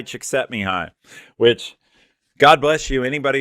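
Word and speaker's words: Csíkszentmihályi: think it's Hungarian and it ends up being pronounced something like me hi chick set me high witch God bless you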